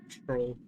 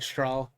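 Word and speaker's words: Strohl: Stroll. What does this mean? I've been saying his name wrong this whole time. Wait, I've been saying Straw.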